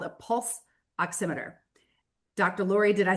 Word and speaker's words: pulse oximeter: The issue is something called a pulse oximeter.